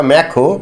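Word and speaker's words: Macron: just এক বছর পরে এই ইম্যানুয়েল ম্যাক্রোকে বা ম্যাখো বলে ম্যাক উচ্চারণ করে তো তাকে কিন্তু ফ্রান্সের জনগণ বিপুল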